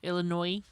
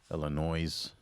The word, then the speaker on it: Illinois: Illinois. Illinois. We don't pronounce the S.